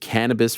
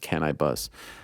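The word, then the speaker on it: Canibus: I was a big cannabis fan back in the day or is it can I bus I think it's actually pronounced can I bus um you know second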